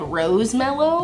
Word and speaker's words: rose mallow: even saying it right i'm pronouncing it like marshmallow but with rose but it's spelled rose mallow i don't know have